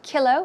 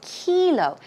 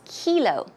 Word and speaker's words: kilo: or even kilometer now we don't say Killough we say kilo it's a long e sound so it's kilo kilo all right we're